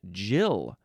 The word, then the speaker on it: gill: This one is Jill.